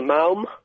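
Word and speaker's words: Maoam: Yeah, I'm eating a malm.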